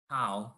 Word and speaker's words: Hao: Is it Hao or Ho? Hao. It's just Hao.